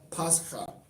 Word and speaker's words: Pascha: So it probably was pronounced Pascha as opposed to Pesach. You probably had an extra syllable after that CH, after that chet. So it's probably Pascha.